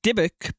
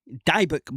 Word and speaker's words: Dybbuk: The dbec box or dybeck box. Two pronunciations.